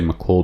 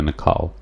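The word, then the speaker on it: Naacal: pronunciation he says uh i would say mccall because of my english accent but since it's american i think it's closer to nicole but nonetheless n a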